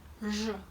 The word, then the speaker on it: Ж: First of all, you might have noticed that when pronouncing zh, especially Russian zh, unlike English, our lips are more rounded, as if they were ready to give someone a kiss.